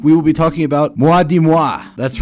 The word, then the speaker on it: Moi dix Mois: will be talking about mua di moi that's right the d-i-x there in the middle is not pronounced x it's dies as in the french word for ten so no more moi